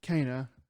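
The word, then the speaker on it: Kena: So there's a game that came out, um, which we did not pronounce it back when it came out, uh, but it's pronounced Kaa.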